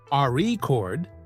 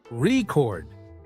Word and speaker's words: record: that's true for example in the word record if you stress the first syllable AR chord it's a noun but if you stress the second syllable record it's a verb practicing stress and